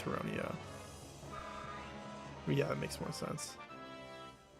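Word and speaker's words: Tauroneo: I used to say Tornado, but it's definitely Terrrono.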